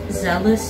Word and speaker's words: zealous: yeah it has the same sound with jealous it sounds like jealous do you know what zealous means zeal is the